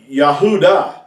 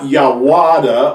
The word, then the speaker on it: Yahudah: here in the word Yahudah. You hear the ooh, Yahoo. It's not Yawada or Yavada. It's Yahuda.